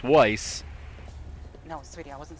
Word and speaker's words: Weiss: Johnson Rees he nobody no one's able to say my name right it's Weiss no sweetie I wasn't